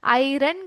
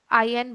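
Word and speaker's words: iron: काफी बच्चे क्या कहते हैं? आयरन को आयरन करके बोलते हैं। आयरन नहीं बोलना चाहिए। आयन बोलना चाहिए।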